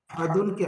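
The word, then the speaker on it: أحد: হবে ইয়াকুল্লাহু এখানে হায় উল্টা ব্যাস হবে আহাদ আহাদুনকে আহাদ পড়তে হচ্ছে কেন করার কারণে শব্দের শেষে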